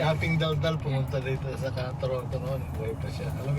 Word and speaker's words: Toronto: Toronto.